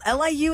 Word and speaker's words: Liu: oh is it shimu no Liu is how you say his last name is it sh sh